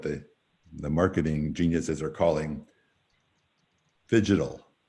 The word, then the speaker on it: phygital: marketing geniuses are calling phygital. That's phygital spelled like fishing, P-H-Y-G-I-T-A-L, phygital, the combination of physical presence and digital.